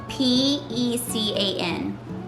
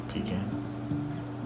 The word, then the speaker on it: pecan: How do you say P.E.C.A.N? Pecan? Pecan. I was raised to say pecan too. I think I usually say pecan now.